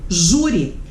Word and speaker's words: júri: E aí, ó, exemplo, júri. Por que júri tem acento? Vou dividir. Júri. Júri. Ju. Paroxítona. Terminada em I.